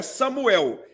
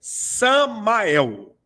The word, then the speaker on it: Samael: no final rasatã ou Samael não é Samuel é sammael Samael Samael é isso